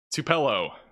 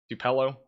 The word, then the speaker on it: Tupelo: Tupello. Tupalo. Everybody's giving me a pronunciation that's different. Tupelo. I'm just going to say Tupelo. I think that's it.